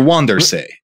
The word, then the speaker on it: van der Zee: They're called, they're Wandersee.